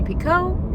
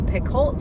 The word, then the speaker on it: Picoult: It is Jodi Picoult, not Picoult. Picoult, Jodi Picoult.